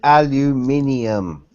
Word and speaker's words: aluminium: st Alum it it's it's called aluminium aluminium aluminium look at the letters we do we just put the wrong emphasis on the wrong salable and comes out I'm